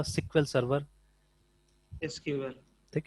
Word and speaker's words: SQL: बट आईबीएम में आज भी इसको प्रोनाउंस किया जाता है एज सिक्वल, या कोई भी बड़ी कंपनी इसको सिक्वल ही प्रोनाउंस करते हैं, they don't pronounce it एज एसक्यूएल, remember, ठीक है ना।